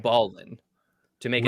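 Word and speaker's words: Baline: Ballin to make it Right, sound. because they recognized that he was absolutely sick at basketball. Yeah, exactly. It also might have been pronounced ball line, but Oh, okay.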